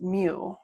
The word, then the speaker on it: mu: The mean is the population parameter, and we use the Greek m, which is pronounced mu.